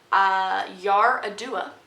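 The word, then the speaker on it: Yar'Adua: look up how to say this name president yar a dua a northerner and he was president and he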